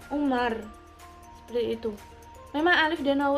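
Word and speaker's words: عمر: Amru ada Wow punya jadi bacanya Amru Kalau tidak ada wownya Hai bacanya Umar istri itu memang Alif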